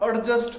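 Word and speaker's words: adjust: और एग्जांपल सुनिए, थोड़ा सा एडजस्ट कर लो जी, एडजस्ट नहीं, इट इज कॉल्ड एडजस्ट।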